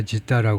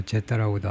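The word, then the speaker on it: جدة: 뭐 제따라고도 하고 여러 가지 표기 방법이 있는데 왜냐하면 아랍 사람들 발음이요. 지따라고 하는 사람도 있고 제따라고 하는 사람도 있고 잘 구별을 못해요.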